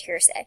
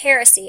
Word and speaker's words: heresy: to establish beliefs and I think I said it wrong it's Harris heresy he said hearsay it's heresy and it's an opinion violently